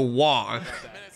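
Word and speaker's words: Waaagh: a collective psychic power called the WAG. And it's literally spelled like WAAAAAAAAGH.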